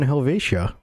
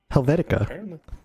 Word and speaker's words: Helvetia: definitely booming over in Helvetia Helvetica I won't call it Helvetica like the font it doesn't have a C at the end but yeah how that